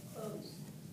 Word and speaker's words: clothes: 是错的，should be Miss Hunter。Actually, I have a question about the clothes. Can it be read as clothes? Clothes. Yeah, when you're pronouncing the TH, it's silent. Close.